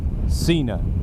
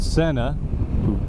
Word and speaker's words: Sena: because of the name Sena is spelled s e in a which means that it would make perfect sense to pronounce it Xena and then you could get John Cena to be your spokesman and make millions and millions of dollars but Sena who insist on pronouncing their name that way they they don't